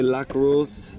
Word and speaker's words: Lac Rose: So for those who, you hear me say lac rose?